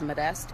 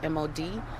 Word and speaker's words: Modeste: Can I get you to say your name and spell that out again? Yes. First name is. My last name is Modeste, Modeste.